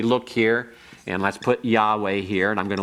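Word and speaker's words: יהוה: But Yahweh is two syllables, and then you have davar.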